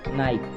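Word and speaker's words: knife: नाइफ।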